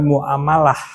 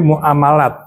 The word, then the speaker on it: muamalat: Jadi sebetulnya bacanya tuh bukan muamalah, tapi muamalat.